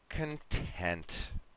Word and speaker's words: content: Okay, and this word, we need to be careful of our syllable stress here, Rocio. The way we pronounce it changes the meaning. So this one is happy or relaxed. And it's going to be like this, content. Content. Now, when we pronounce it this way, it means happy, calm, and even maybe relaxed.